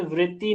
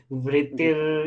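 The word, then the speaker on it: वृत्तिः: बहुत अच्छा बोला, लेकिन यहाँ पे ना केवल वृत्ति नहीं बोलना है, वृत्तिर ये वाला रा जो है ना यहाँ पे लेके आ जाना है इसका प्रोनाउंसिएशन।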